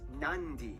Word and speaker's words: Nadi: alphabet, C makes the th sound, D makes the nd sound, B makes the mb sound. Both Q and G Never make mind. the ng sound. Therefore, the town of Nadi is actually pronounced Nandi.